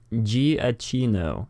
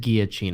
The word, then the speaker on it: Giacchino: it it's he says it's pronounced giacchino isn't that what I said I think that's what I said no you said you said guillotine I said guillotine oh oh okay jiajia